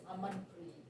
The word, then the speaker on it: Amanpreet: Everybody over here calls me Aman, and actually, if I pronounce it in my language, it is Amanpreet. That's how you pronounce it.